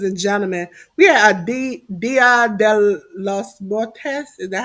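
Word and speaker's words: Día de los Muertos: Ladies and gentlemen, we had a Dia de los Muertos. Is that how you say it, J News? You the Spanish person. Dia de los Muertos.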